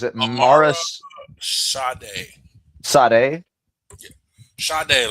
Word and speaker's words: Sade: Sade, like the singer.